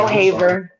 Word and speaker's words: Ohaver: Or Haver, give me the correct pronunciation again. Ohaver.